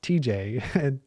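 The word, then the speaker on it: Tejay: So it's really just pronounced, if this website's right, it's really just pronounced TJ.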